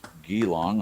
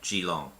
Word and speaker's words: Geelong: Little River Northeast of geylang I'm probably saying it wrong the early Town scenes filmed in the main street of clunes north of Belarus yeah Geelong Shalom yeah thank you all